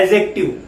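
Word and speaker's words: adjective: यहां पर जो डी है वो साइलेंट है बेटा। इसको पढ़ते क्या है? एडजेक्टिव।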